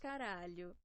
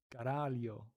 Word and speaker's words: caralho: Caralho. Caralho.